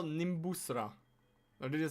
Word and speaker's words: Nimbusra: How do you spell Nimbusra? Or did I say Did I say it right? Spell it for me, please.